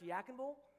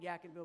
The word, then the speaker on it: Yadkinville: heard of yakkung Ville Yadkinville yakkung Bowl it's pronounced yakkung Bowl but if you live in Yadkin County you know people call it yeah canva what you might call it Yadkinville but anyways